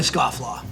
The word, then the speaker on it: Scofflaw: I'm making a Scofflaw.